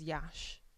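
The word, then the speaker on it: Iași: ] yeah it's in um a city called Yash Yash Yash I think as in Yash mash it yeah it's spelled like I si but apparently you pronounce it as Yash Do you reckon that's just cuz it's easier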